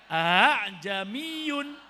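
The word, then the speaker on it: أأعجمي: Bagaimana cara bacanya? Jamiyun. Bukan tapi. Jamiyun. Hamzah yang kedua harus dibaca tashil.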